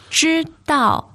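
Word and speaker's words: 知道: 知道, first and fourth tone.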